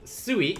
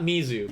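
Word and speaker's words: 水: or tuesday for tuesday then suey not mizu but suey for uh wednesday or waters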